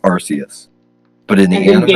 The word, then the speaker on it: Arceus: No, as MNJ TV said, it's Arceus, obviously. Yeah, it's obviously Arceus, I give this episode a mocha lattes out of 10.